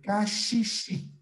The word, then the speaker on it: caxixi: help me to your house beech eu assisti cachichi cachichi muito bem caxixi ok e vamos falar comigo berimbau berimbau muito